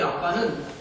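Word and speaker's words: אבא: 우리 발음하고 거의 비슷한이 아빠는 우리 한국말로 해석해놓은 것이 아니라 원래 발음이 아빠 히브리 사람들이 아버지를 하게를 때 쓰던 그런니다 이렇게 예수님께서 하나님을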